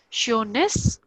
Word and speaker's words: schönes: See, SCH is sure, the sure sound. OE here is O umlaut, so it is io, sure, and NES is ness, sureness.